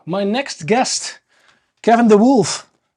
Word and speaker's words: Wolf: a little bit to like wolf just wol because D is like you know it's yeah they can't handle it so I'm like Okay Kevin wolf and then still it's like you know the pronunciation is different so I'm like oh just like the animal and they're like oh